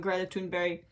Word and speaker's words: Greta Thunberg: He, in the past, had roasted some Republican commentator for calling Greta Thunberg, that's how you pronounce it in the Swedish way, mentally ill.